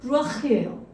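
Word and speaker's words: רוח: 그래서 이 영은 히브리어로 루아흐예요. 루아흐. 이렇게 토하듯이 얘기합니다. 루아흐. 이렇게 여기 이 안에서 발음이 나오는데 루아흐인데, 이게 뭐냐면 여러분 바람입니다.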